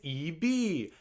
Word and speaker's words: Yves: And for some reason, this one said it's not Yves, it's EB.